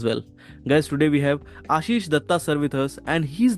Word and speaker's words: Ashis Dutta: So as you have said, my name is Ashis Dutta. In Bengali, it's pronounced Ashis Dotto, but Okay.